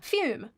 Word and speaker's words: Fume: Fume rhymes with broom.